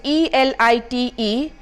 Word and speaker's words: elite: The 23rd word on my list here is ELITE, which is to be pronounced as elite.